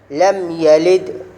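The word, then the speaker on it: لم يلد: উপর জবর আছে এজন্য লা টান দেওয়া যাবে না বরং পড়তে হবে দ্রুত লাম ইয়ার উপর জবর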